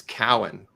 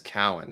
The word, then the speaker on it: Cowan: Oh, and by the way, it's Cowan. Dennis Cowan, not Cohen. Cowan. I got scolded. But I asked him before the show how to pronounce his name because I didn't want to screw it up. So it's definitely Cowan. Yeah.